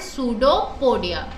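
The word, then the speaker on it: pseudopodia: क्या इन्हें हम कहेंगे जस्ट लाइक ऐसोफागस जहां पे ओ साइलेंट था यहां पे पी साइलेंट है सो वे बिल कल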